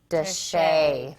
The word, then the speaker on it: de Chelly: rare photos of Canyon say it with me desha I hope it's right Robert Steve our source